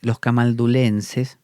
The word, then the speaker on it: camaldulense: hecho, antes los camaldulenses, yo le digo camaldulenses, pero aquí pone camalduleses. Yo creo que es camaldulenses. Lo vamos a buscar por las dudas, así lo pronuncio bien. Vamos a ver qué pone aquí acerca de los acá está bien, camaldulense, lo decía bien, estaba mal escrito, camaldulense, porque es de la camáldula.